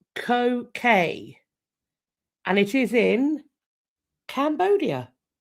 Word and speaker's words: Koh Ker: be sat in front of a place called Koh Ker. And it is in Cambodia. And thank you as well, Jin, for sending me the pronunciation. Very, very helpful. Koh Ker, spelt k o h space k e r.